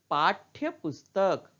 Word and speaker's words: पाठ्य पुस्तक: तो यहां ठ के नीचे हल लगा है इसलिए ठ का उच्चारण थोड़ा कम हो रहा है, आधा ही हो रहा है। तो इसे हम पढ़ते हैं पाठ्य पुस्तक।